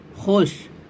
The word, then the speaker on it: خوش: Number 43 واو معدولہ۔ واو معدولہ وہ واو کہلاتی ہے جو لکھنے میں آئے اور پڑھی نہ جائے۔ اسی سبق کو پڑھنے